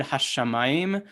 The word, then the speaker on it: hashamayim: The problem with the word hashamayim is that the stress is actually on the penultimate syllable. And so you put a second one there to show you that the stress is supposed to be on the first mem, but you have the